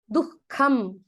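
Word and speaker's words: दुःखम्: Tatra, that hakara will be, that visarga will be pronounced like a hakara coming there, half hakara. It's a half visarga. Dukkham iti. It is not a ha. It is using that jihva moolam, that moolam of your tongue.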